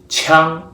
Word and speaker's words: 羌: This character is pronounced 枪.